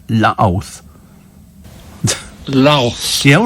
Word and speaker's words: Louth: So, Louth on Wikipedia is pronounced... Louth.